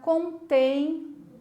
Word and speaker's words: contém: Na palavra contém, mesma coisa. A última sílaba é a mais comprida, que eu puxo na hora de dizer, né?